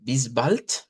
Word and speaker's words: bis bald: Em, con esto hacíamos una broma antes que se parece al apellido del cantante, ¿vea? Del Bisbal, ¿vea? Parecido, ¿vea? Parecido, pero este es Bisbal con la T, Bisbal.